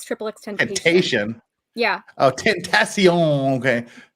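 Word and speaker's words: XXXTentacion: What's funny about it is you're pronouncing it wrong. Well, how am I supposed to pronounce 3 X's and tension? Tentation. It's triple X tentation.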